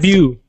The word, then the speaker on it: debut: So that is actually a French word, but we use it a lot in English, and it's pronounced... Debut.